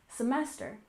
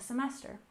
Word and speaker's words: semester: first we have semester we stress the second syllable in semester semester in the American education